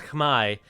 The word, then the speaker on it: Khmer: and upper in grey timmer is playing as the khmer although i've heard people say that that should be pronounced as khmai um but however you want to say it um please do